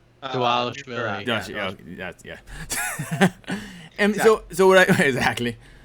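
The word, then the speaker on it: Dvalishvili: Davashvili.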